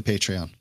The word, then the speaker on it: Patreon: Is that the way you pronounce it? It is not. It's totally Patreon.